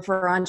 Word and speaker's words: Farage: Just this morning, I think like 10 minutes ago, I saw Nigel Farage. Is that how you say it? Yep. Nigel Farage was hit with a milkshake.